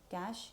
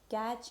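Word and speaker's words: cache: तो जो कैश है इसका प्रोनाउंसिएशन कैश की तरह ही करते हैं, इसे कैच या फिर कैशे नहीं बोलते।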